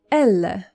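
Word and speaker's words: אלה: Elle.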